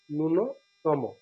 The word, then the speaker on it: ন্যূনতম: শুরুতে যদি জ ফলা থাকে অনেক সময় এ উচ্চারিত হয়, অনেক সময় হয় না। ন্যূনতম অর্থাৎ উচ্চারণ নেই, ন্যূনতম।